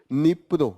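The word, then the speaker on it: Dnipro: ये जो रिवर है उसका नाम है निप्रो डी यहां पर साइलेंट है ओके नियापोलिस रिवर ऑफ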